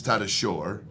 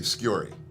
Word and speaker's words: Tatasciore: alfredo but like if if you were to they americanized so it's tata shore but it's spelled s-c-i-o-r-e which is but most people say in america say scurry i had a coach